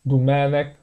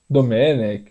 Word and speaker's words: Domènec: É claro que é um pouco difícil a gente se acostumar a falar Domènec Turèn, sendo que no contexto brasileiro, no dia a dia, neutralizar essa primeira vogal Domènec. A gente vai acabar falando Domenech, mais ou menos, como tem falado na televisão, Domenech, Turren ou Torren.